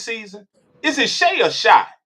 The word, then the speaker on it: Shai: Is it Shay or Shai? Is it Shay? It's Shay. It's the same Shay. I don't want to mispronounce my brother. It's the same everyone says it's Shay.